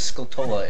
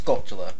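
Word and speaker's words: Skulltula: Why do people pronounce it as scultola? It's sculptula. Sculptula. Tarantula. Sculptula. It's like tarantula.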